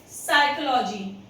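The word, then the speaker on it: psychology: जब कभी भी एस के पहले पी आता है किसी भी वर्ड में तो वो साइलेंट हो जाता है। जस्ट लाइक साइकोलॉजी, इसे हम साइकोलॉजी बोलते हैं, पी बिल्कुल साइलेंट हो जाता है।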